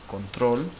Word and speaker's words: control: So this word here is pronounced control. It is by default naked. You don't need to put an accent mark on it because it sounds like control, aguda.